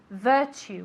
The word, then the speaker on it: virtue: virtue remember that we say that t u really as if it were a c eight okay virtue one more time very